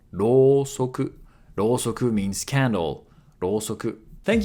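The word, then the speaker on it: ろうそく: So here u after ro makes it a long vowel. Rosoku.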